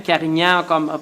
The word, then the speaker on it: Carignan: Carignan, le N.